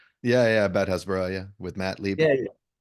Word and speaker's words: Hasbara: to a podcast that you did on Bad Hasbara. Did I pronounce that right? Yeah, about Hasbara, yeah, with Matt Lieb.